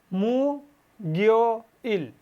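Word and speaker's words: 목요일: এখানেও যে বাচ্চিমটা আছে এই বাচ্চিমটা ইয়ংয়ের জায়গায় চলে যাবে এবং গিউকের যা উচ্চারণটা ছিল অর্থাৎ অবস্থানভেদে যে উচ্চারণটা ছিল সেটাই উচ্চারণ হবে। অর্থাৎ গিউকটা এখন যদি মাঝে অর্থাৎ ইয়ংয়ের জায়গায় নিয়ে যাই তাহলে এখন উচ্চারণ হচ্ছে গ। এখানে হচ্ছে কি মু, আর এটা এখানে নিলে কি হচ্ছে গিও, মু গিও।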